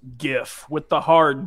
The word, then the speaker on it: GIF: yes it is pronounced gift with the hard G thank you for yes thank you because the the G stands for graphic so you go graphic not drag right and